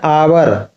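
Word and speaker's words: hour: हैं Amjad bill finish his work in एन आवर अब देखो यहां आवर दिया है इसका उच्चारण क्या हो रहा आवर हो रहा है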